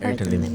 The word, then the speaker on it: Arvin Lim: I want to circle back to the issue, the case of I don't know how to pronounce his name. Arvin. Arvin Lim, right? Arvin Lim.